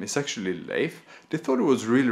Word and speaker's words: Leif: However, when my Taiwanese friends find out that my Swedish middle name is actually Leif, they thought it was really, really funny because this sounds a lot like the Taiwanese name Laifu.